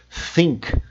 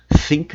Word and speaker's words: think: A pronúncia do nome do vídeo, think, think different, pense diferente. Olha a minha pronúncia. Think. Think. O som de th.